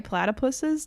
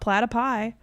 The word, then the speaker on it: platypuses: as a plural, like correct way to say platypuses, not platypi, it's platypuses.